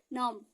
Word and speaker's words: numb: आएगा तो क्या होगा, जब भी आपका एम के बाद बी आएगा तो वो क्या होगा, साइलेंट होगा। लेकिन बी कौन साइलेंट होगा, बी साइलेंट होगा। ये आपको जब आप बार बार रिवीजन करेंगे तो आपको समझ में आएगा। जैसे कॉम बहुत लोग बोल देते हैं, कॉम मीन्स कंघी होता है ना, NUMB नॉम।